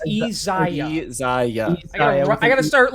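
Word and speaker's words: Iyzia: I keep going I keep going to say Isaiah it's easy I gotta start like giving you these names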